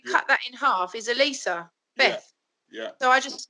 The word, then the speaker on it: E-Lisa: know what and then he pronounced my name correctly e lisa yeah yeah yeah yeah